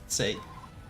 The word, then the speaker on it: Seikret: The secret say Seikret. That's how you spell it.